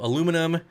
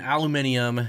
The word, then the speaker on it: aluminium: Aluminum and aluminium, you can go back and forth.